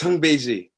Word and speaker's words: Houngbedji: pronounce your last name it's hung Bey okay yeah say it again for the people hung be okay I was close